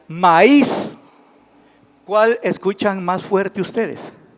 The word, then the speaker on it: maíz: otro ejemplo es maíz si no lo acentuamos la y como diría maíz maíz y en algunas colonias así lo pronuncia vaya quiere más si es bueno es entendible verdad de que se refiere pero fonéticamente o sea dándole correctamente la pronunciación sería maíz cual escuchan más fuerte